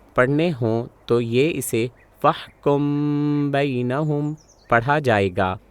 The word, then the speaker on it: فَاحْكُم بَيْنَهُمْ: ہوں تو یہ اسے فَاحْكُم بَيْنَهُمْ پڑھا جائے گا۔ ایسے میں نے اپنی ناک کے ذریعے ایک ہلکی ناک کی آواز نکالی جو حرف با کے تلفظ کے لیے تیار تھی اور اسے 2 گنتی